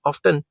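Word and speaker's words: often: This method is ऑफ्टन या ऑफन, दोनों में से कोई भी प्रोनाउंसिएशन जो आपको सूट करती है, क्योंकि अमेरिकन एक्सेंट और वो क्या कहते हैं यूके एक्सेंट में थोड़ा डिफरेंस है.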